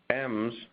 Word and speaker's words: em: M's, as an aside, are great. You may call this an EM because it's in the new HTML standard, but it's pronounced M. Go look it up.